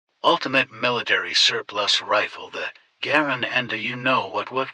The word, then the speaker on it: Garand: mispronounced it or did I am not going to call it a Garane. And though that's the way John Garin pronounced his name, everybody calls this the Garin, it's always been the Garen.